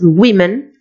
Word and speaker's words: women: Lo mismo pasa con woman, que es mujer, y la pronunciación es muy diferente del plural, es women, es mujeres.